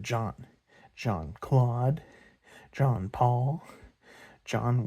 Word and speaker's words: Jean: Not pronounced Jean as it is spelled, but John.